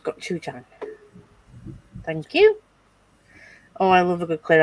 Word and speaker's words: gochujang: Yeah, it's pronounced gochujang.